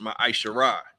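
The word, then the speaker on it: ma'aser: Malachi 3 verse 8-10 means 10th in Hebrew and is pronounced ma isar 10% of every penny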